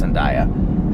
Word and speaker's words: Zendaya: That Zendaya, am I pronouncing her name right? Zendaya, I think it's Zendaya.